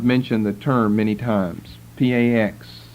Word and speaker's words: Pax: P-A-X, spelled like it sounds, 2 words, Pax Romana, Roman peace.